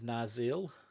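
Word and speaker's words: Narsil: cloak over it and then weapons shards of naril that's how you pronounce it which is going to act like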